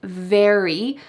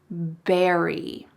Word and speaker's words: very: Instead of saying very, I heard berry. He exchanged the V for the B sound.